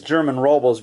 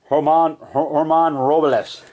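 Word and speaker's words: Germán Robles: Some people say it's German Robles, but it's pronounced Herman Robles.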